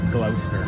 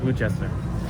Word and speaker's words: Gloucester: I think it's Gloucester, not Glouchester.